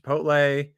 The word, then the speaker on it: Chipotle: wants to know how to pronounce Chipotle it's pronounced Chipotle and I believe we're all caught up except